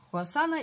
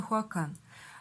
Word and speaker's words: Хуасан: Если бы продавец был, например, американский, то мы бы произносили его название как Хуакан или Хуакен. А поскольку продавец китайский, то Хуасан.